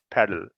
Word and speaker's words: pedal: Pedal, a sound, not paddle, a and a.